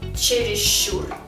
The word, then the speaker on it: чересчур: но пишем мы расщедрился слова такие следующие чересчур черес Щур привязчивый привязчивый считалка пишем но произносим считалка считалка длинная ч то есть удвоенная